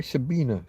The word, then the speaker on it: Sabine: I'm going to say Sabina. Sorry, it is spelled with a with an E on the Sabine, but it's Sabina Hosenfelder did a video I think it was today.